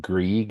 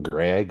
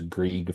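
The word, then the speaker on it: Greig: I believe it's pronounced Grieg and not Greg. I believe it's Grieg Fraser, was the DP on Dune Part 2.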